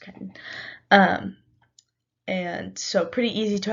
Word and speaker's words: chiton: Sorry, it's pronounced chitin.